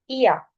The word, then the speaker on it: ihr: इया, इया, ये जो वर्ड है आई की साउंड होती है ई, so overall it's pronunciation is इया, ई आ, इया।